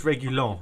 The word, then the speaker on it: Reguilon: I'm not very good at his pronunciation yet. Reguilon? I think it's Reguilon.